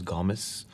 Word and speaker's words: Gomes: this is ben gomes well the correct pronunciation is gomez this is ben gamez but i say gomes this he knows a